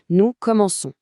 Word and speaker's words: commençons: C'est pareil pour un verbe comme commencer. Avec nous, si on écrit "Comenons", le C se prononce que pour garder le son C, on doit mettre une CD sous le C. Nous commençons.